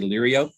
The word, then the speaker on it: Liriope: And like I say, some people say lirio. I say liriope.